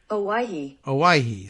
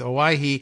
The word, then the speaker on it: Owyhee: Owyhee. So not too bad, right? I think that's actually kind of what I came up with. Owyhee, a little bit like Hawaii, but it's not.